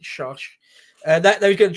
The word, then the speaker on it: Chartres: They were going to drop into Chartres, or Chartres, we'd say it, but I think the French pronounce it Chartres.